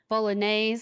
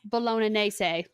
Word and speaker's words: bolognese: familiar to a word bolognaise I believe is how you pronounce for a long time I said that's Bellona naysay okay yeah I was corrected at the Olive Garden yeah that's what